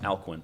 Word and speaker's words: Alcuin: Um uh so just one or two syllables. Alquin as if it's got a Q.